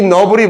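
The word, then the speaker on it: novel: 따라봐.너블 이거 노벨이라고 읽으면 안 돼요. 선생님 그 저 그 단어 알아요? 중학교 때 봤어요. 소설이요. 그래 명사는 소설이야. 소설 방법 이상하죠?이 너블이 뭐예요?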